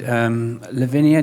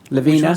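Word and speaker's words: Lavina: other product you showed Lavinia is that what how you pronounce it levena sorry levena yeah love you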